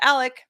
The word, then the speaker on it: Alec: go through this um if i slip into saying alex instead of alec my apologies i try